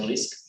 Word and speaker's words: RI5C: Se escribe RI5C, pero se pronuncia RISC.